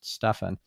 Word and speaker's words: Stephan: They'll call me Stephan. And then I have to correct them. If I didn't remember to tell them in advance before the recording, like, hey, by the way, my name is pronounced Stephan.